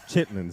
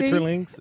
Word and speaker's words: chitterlings: See, Chitterlings? Is that how you, wait. you don't even know how to say it. Chitlins. Don't act like you know. Oh, we're from the South. Nah. We say chitlins.